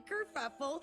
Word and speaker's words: Kerfuffle: I'm Kerfuffle, spelled like it sounds with a double for the fuff.